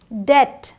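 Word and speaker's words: debt: नम ये डम क्रम डेट अब देखिए यहां बी साइलेंट है डेप्ट नहीं है ये डेट है प्लमर आधे से ज्यादा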